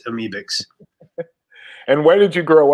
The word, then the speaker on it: Amebix: You're not, some people say Amebix, you know, but it's Amebix.